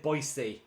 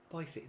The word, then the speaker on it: Boise: Um so, ah Amy said, "Boisey." Boyisey, there you go. Now I know how to pronounce it.